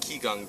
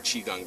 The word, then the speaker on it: qigong: it's a modified version of Qigong breathing or chi gong breathing depending on how you choose to pronounce it and it's going to